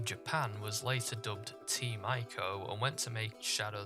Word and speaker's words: ICO: damn familiar with it ico which is pronounced eco but nobody bloody calls it that is an action-adventure game